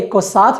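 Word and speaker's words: queso: से मिलता जुलता है, तो अगर हम कु, ऊ और ए को साथ में जोड़ेंगे तो यहाँ पर भी हम ऊ का उच्चारण नहीं करेंगे, हम सिर्फ कु और ए को साथ में जोड़कर उसका उच्चारण करेंगे।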